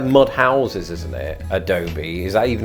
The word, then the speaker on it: adobe: A PDF software or a bit Adobe Premiere Pro.